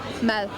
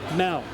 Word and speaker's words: mad: Mad. Mal. Mad. Mel? Mad.